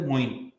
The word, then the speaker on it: Moeen: The name that rhymes with Queen is Moeen.